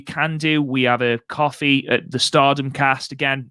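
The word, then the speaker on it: Ko-fi: We have a coffee at the Stardom Cast. Again, no. You say Kofi wrong and it annoys me. It's coffee. Kofi. It's coffee. It's not Kofi.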